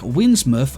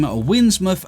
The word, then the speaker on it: Windsmouth: Anything else would work, but at least in English tradition, town or at a river's mouth tend to end in muff. Now, or mouth, but muff is pronounced.